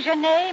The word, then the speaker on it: Jeanette: Well, Jeanette, don't you mean Genet, Mr. Wellman? I do not. I said Jeanette, and I mean Jeanette. Oh, that's right, French. Don't pronounce the T unless it's feminine has an E.